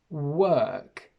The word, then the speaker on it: work: But in English, these each have a completely different sound. We have woke, we have walk, work, and wok.